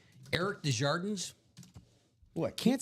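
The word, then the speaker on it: Desjardins: How do you pronounce his last name? He goes, "Shouldn't it be DJardan?" He goes, "Um, yes, but if I say it that way, if I pronounce it that way, people think I speak French and I don't."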